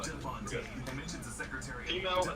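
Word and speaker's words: de Fontaine: It's not Fontaine, but DeFontaine, and mentions the Secretary of Defense as Anderson.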